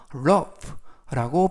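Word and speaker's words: rough: 이때 lock 할 때 gh 발음이 F 발음이 나서 러프라고 발음하시면 되겠고요 그래서 전체적 의미는 조심해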